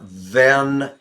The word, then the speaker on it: than: likes fish tacos more than hamburgers all right emphasized this pronunciation t h e n then then is that what we want here no van or comparison word than hamburgers because of being in